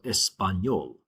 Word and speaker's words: español: In Spanish, if a word ends in a consonant other than N or S, you always want to stress the last syllable. So español, comer, usar. My stress falls on the very end.